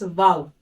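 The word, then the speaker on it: واو: letter of this category is wow which is pronounced by rounding the lips opening the lips slightly and forming an O shape produce the latter wow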